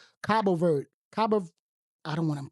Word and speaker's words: Cabo Verde: But Cape Verde, I think Cape Verde, they like, Cabo Verde. I don't want to mispronounce it. Cabo Verde.